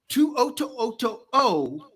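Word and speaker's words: To'oto'o: Henry Tuoto. And that O is not for oh my God. It is for O.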